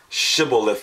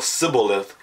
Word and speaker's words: Shibboleth: If you couldn't pronounce Shibboleth with the sh sound, people who pronounce it with a s or Sibboleth, they were killed.